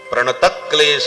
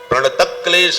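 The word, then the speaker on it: प्रणत क्लेश: कृष्णाय वासुदेवाय हरे परमात्मने प्रत क्लेश नाशय प्रत में विसर्ग नहीं है प्रत क्लेश बहुत से लोग बोलते प्रत क्लेश नाशय विसर्ग नहीं लगाना चाहिए प्रत क्लेश नाशय गोविंदाय नमो नमः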